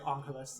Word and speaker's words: Angeles: It's the Angeles mission, which is spelled the same as Los Angeles, except you say Angeles is how it's pronounced.